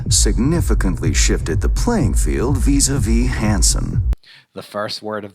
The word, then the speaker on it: vis-à-vis: involved in this mission, vis-a-vis, vis-a-vis. Pay attention to the pronunciation. It's a little tricky with a z sound.